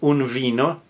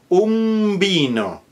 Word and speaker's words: un vino: For example, un vino with a V is not pronounced un vino, it is pronounced vino.